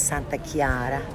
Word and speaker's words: Chiara: santa clara santa clara it's actually saint claire but in italian it's santa chiara and this is the